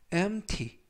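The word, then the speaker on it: empty: 베티가 묵음 은 아니지만 발음할 때 거의 들리지 않습니다 그래서 밴프 t 가 아니라 엠티 mt 즉 dmt 캔 하면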